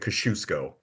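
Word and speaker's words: Kościuszko: Indiana named after him Thaddius Kaziasco. Oh well at West Point I was always told that you pronounced it Kashusco but I I don't know.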